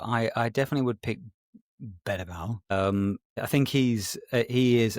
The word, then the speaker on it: Berbatov: Berbatov, as we now call him, cuz that's how you pronounce his name, of course.